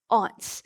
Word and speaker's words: aunt: with this mine included i have some ants oh some of you pronounce that aunts i have some aunts